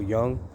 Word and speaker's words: Jung: Carl Jung, it's like a Jungian school of thought, spelled Junj. Pronounced Jung, but I came across